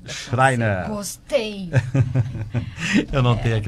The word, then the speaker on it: Schreiner: O outro nome fica um pouco difícil de pronúncia? Boa então, tarde. É que é a Schreiner. Schreiner.